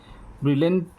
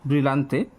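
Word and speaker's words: Brillante: तो जैसा कि आपको पता है ब्रिलेंट ब्रिलेंटिला और क्रिस्पिसा यहां पर ऑप्शन दिया गया है। मैंने गलत उच्चारण किया ब्रिलंते।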